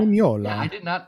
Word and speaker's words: Mignola: I just mispronounced his name. Mignola. How did I do Mignola. that? Yeah, Mignola.